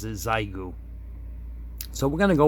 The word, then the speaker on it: Xiegu: the radio it's a zygoo g90 now i've been corrected on that pronunciation according to google by that spelling it should be pronounced shigu but the manufacturer of this radio actually pronounces zaigu so we're going to